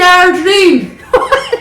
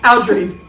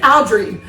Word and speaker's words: Algerine: There's no But it's 3 syllables, right? Algerine. Is that how you're supposed to say it? I don't know if you're from Mount Pearl or from St. John's. You're calling it Aldrine, as if it's a cleaning product.